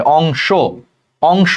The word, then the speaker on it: অংশ: তাহলে দেখো সেই অন্ত অর আগে অনুস্বার আছে, তাহলে এই অন্ত অটা ওকারের মতো উচ্চারণ হবে, অংশ, অংশ।